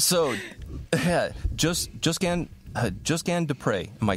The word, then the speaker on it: Josquin Des Pres: hello hey friends so yeah just just Gan just G de pre am I saying that correctly yeah actually it's